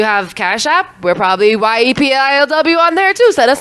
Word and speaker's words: YEPILW: Yepilw.